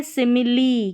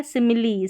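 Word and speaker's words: simile: ये है सिमिली, क्या है? सिमिली, सिमिली, यहाँ पर भी ई का उच्चारण हो रहा है।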